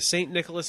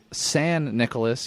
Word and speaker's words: San Nicolas: heard we're heading to st. Nicholas Island just San Nicolas you made the same mistake I did hey bro sand means Saint in Spanish it's true that's not